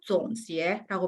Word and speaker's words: 总结: 보시면 우리 总结 같은 경우는 삼성이랑 이성이에요. 그렇기 때문에 한 번에 연결하는 발음으로 다시 한번 总结라고 발음을 해주시면 돼요.